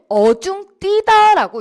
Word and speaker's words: 어중되다: 수 있는 그런 단어인데요 표준국어 대사전에서는이 아이를 어 중 뛰다라고 이렇게 발음을 하라고 되어 있습니다 기본형 기본형에 대해서 어중띠다 혹은 그러니까 지금 어중된이라고 활용이 된 이런 표현이잖아요 그렇죠 그래서 이거를 어중띠다라고 이렇게 발음을 하게 되어 있단 말이에요 이걸 이거 자체에 기본형